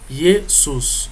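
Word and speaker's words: Ἰησοῦς: E Jesus é pronunciado Jesus, como eu falei para vocês. Observem, aqui tem um ômicron e aqui tem um Y. Quando os dois se encontram, a pronúncia se torna U. Por isso que tem que ser pronunciado como Jesus.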